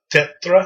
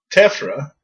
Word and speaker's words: tephra: Volcanologists frequently visit volcanoes, especially active ones, to observe volcanic eruptions and collect eruptive products, including tephra. I guess is the way you say that. It's hard to pronounce that.